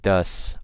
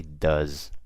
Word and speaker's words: does: you guys see um I'm pronouncing it now with an S but with a Z so I didn't say ghosts I say goes I don't say thus I say does okay makes a world